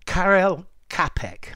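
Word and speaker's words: Karel Čapek: and it from a science fiction play by Carell capek I hope my pronunciations right uh and then it was taken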